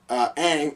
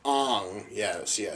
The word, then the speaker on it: Aang: If our chosen one, Aang, oh, my fault, Ang, yes.